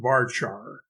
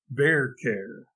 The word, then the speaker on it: VARCHAR: not most programmers pronounce v-a-r-c-h-a-r-s if it rhymes with far they pronounce it varchar but since the var part comes from the word variable and the char part comes from the word character it is only logical